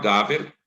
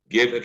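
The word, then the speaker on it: גֶּבֶר: A palavra Gaver, a palavra é Gever. Gever quer dizer do homem. Como está no final de versículo, tu vai mudar essa primeira sílaba do E para A. Você fica Gaver.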